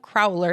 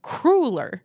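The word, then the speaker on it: cruller: is only one pronunciation it's not a crawler it's a crueler a crueler it's of Dutch German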